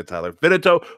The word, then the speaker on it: Vidito: It's said just like it's spelled. Surprisingly. Good job, man. Surprisingly, it said just like it is spelled. A lot of people like to say Vidito, but Yeah. then people start arguing that the TOW is, it's a tow truck, so Vidito. It makes Vidito.